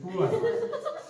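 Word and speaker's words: poor: pure बीच में सर, हाँ हाँ बिल्कुल सही, पुअर, ये पुअर है, क्या है ये पुअर, आ रहा ना ऊ, आर इसमें साइलेंट है, और इसका जो सिंबल है तो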